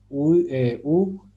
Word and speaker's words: uyuyorsunuz: No, así no. Se lee uyuyorsunuz. ¿Se dan cuenta? Vemos, es diferente. Uyuyorsunuz. Entonces, es algo que también hay que ponerle importancia, que es a la pronunciación, a la separación de las sílabas, porque si no, entonces pronunciamos y leemos distinto.